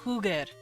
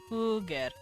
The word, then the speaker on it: jugar: How do I pronounce it? Oh, Huger. Yeah. Huger.